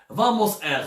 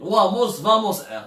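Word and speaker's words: Wamos Air: une compagnie espagnole اسمها Vamos Air. Ça s'écrit avec W mais ça se prononce V. Vamos Air.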